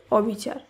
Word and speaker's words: অবিচার: যেমন অসম্ভব শব্দটি শুদ্ধ উচ্চারণ অসম্ভব, অস্থির শব্দটি শুদ্ধ উচ্চারণ অস্থির, অবিচার এর শুদ্ধ উচ্চারণ অবিচার, অনাচার অনাচার, অচল অচল, অক্ষম অক্ষম।